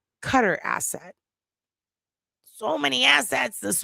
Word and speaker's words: Qatar: I know it's pronounced cutter. I say cutter asset.